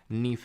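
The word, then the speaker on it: NiFe: core होती है इसको बोलते हैं नीफ या फिर फेनी जो भी आप प्रोनाउंस करें तो सी से सिलिका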